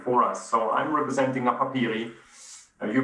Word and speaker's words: Napapijri: So I'm representing Napapijri. You pronounced the name correctly.